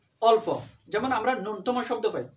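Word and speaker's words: ন্যূনতম: বা অল্প যেমন আমরা নুনতম শব্দ পাই শব্দটা নূন্যতম নয় এই শব্দের আসল উচ্চারণ হচ্ছে নূনতম তাহলে এই এন্ডিকাপড়টা ফ্লানেল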